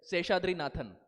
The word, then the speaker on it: Seshadri Nathan: So I said, "Seshadri Nathan." So she said, "Okay, can you spell it?"